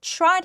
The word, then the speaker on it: tried: 그리고 tried 할 때 T하고 R은 추라고 발음하지 try가 아닙니다.